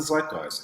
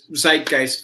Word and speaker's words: zeitgeist: Notice how American I pronounce the word, because it's actually a German word, and we would say zeitgeist, of course.